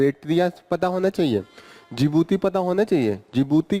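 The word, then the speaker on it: Djibouti: जिबूती कहां पे है जिबूती डी साइलेंट है डी पहले होता है जे आई बी ओ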